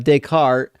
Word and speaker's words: Descartes: I mean uh decart is how people pronounce it in English.